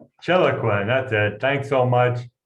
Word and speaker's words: Chiloquin: So me from Islamabad, Pakistan, and Mark Gaffney from Chentoquin, Oregon. I believe I pronounced that correctly. We're saying Chiloquin. Chiloquin.